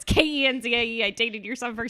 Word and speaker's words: Kenzie: I was like, no, it's Kenzie.